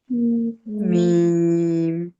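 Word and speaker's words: م: মিম মিমটা দুই ঠোঁট থেকে উচ্চারণ করব।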